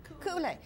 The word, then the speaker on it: Kuule: Did I say it right, Kuule or Kuile? Kuule.